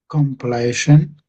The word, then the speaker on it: compilation: again there compilation compilation yeah comp so I'm saying com then I'm saying pill so pill and then something like Asian I suppose comill Compilation.